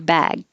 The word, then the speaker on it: bag: bag 23 you're back the only thing that's really changing is the vowel gets longer before a voiced sound so your bag that's why i put two a's to represent that it's stretched a little longer your bag is this